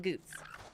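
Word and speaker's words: Goetz: It's spelled G-O-E-T-Z, but we call him Goots. Or at least the game calls him Goots.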